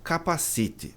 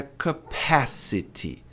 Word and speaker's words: capacity: Não é capacite. Capacite é tônico. Aqui é como a maioria das pessoas pronuncia. A pronúncia é capacity. Capacity. Veja no inglês americano, quando